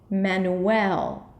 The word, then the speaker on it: Manuel: For the first syllable is man, the last syllable is L, and the middle syllable is going to be a really short U sound. Manuel.